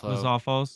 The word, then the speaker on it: Lizalfos: How do you pronounce that? Lizalfo. Lizalfos.